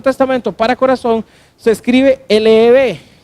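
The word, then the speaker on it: לב: se usaba en el Antiguo Testamento para corazón se escribe L-E-B, y es Leb, ¿cierto?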